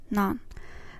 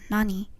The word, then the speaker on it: 何: In the previous conversation, we pronounced it as nan, nanji, what time. You might also hear it pronounced as nani.